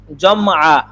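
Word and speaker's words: جمع: আমরা এখন শুধু জমা বলি, জমা। এটা বলতে বলতে বলতে বলতে এইভাবে আইসা পড়ে। হ্যাঁ, জমা মুজাক্কার গায়েব, তাসনিয়া মুজাক্কার গায়েব। এখন যদি আপনি ভালোভাবে বলতে চান তাহলে এটার উচ্চারণ হবে জামআ, জামআ।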